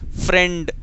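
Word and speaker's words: friend: आई आई रहा है लेकिन इसे आई प्रोनाउंस नहीं करते फ्रेंड और आई साइलेंट हो जाता है यूं मां लीजिए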